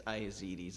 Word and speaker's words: Iazides: It's Iazides, it's Greek.